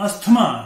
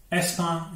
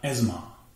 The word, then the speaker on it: asthma: Number 5, ASTHMA, ये अस्थमा नहीं है, यह है एस्मा या एज्मा, एस्मा या एज्मा।